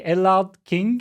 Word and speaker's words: Ellard-King: I don't know how to pronounce your name properly. Ellard-King, is that correct? You got it, yeah.